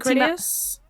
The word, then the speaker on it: Critias: Specifically, it is the Timaeus and Critias. Yeah. Thank you. That's such a better pronunciation than I was going to pull up.